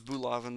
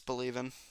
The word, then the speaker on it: Bolaven: So that's with bolaven. Yes, Wait, Bolavens. that's oh, I was pronounced it right. That's shocking. Yeah, Bolaven, I believe. Thought it was Bulaven, but no, it's Bolaven. I thought it was bolavan.